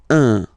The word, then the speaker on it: un: without any doubt, but you've got to pronounce it like un. So it's what we call the nasal, so it goes in your nose, okay, un. So if you listen to me, you don't hear any N, okay, so it's just